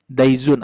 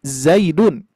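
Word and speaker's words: زيد: Daizun apa itu daizun? Ternyata ini salah pengucapan. Harusnya Zaidun ini ya.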